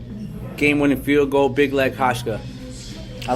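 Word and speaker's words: Hauschka: Kashka? Hashka.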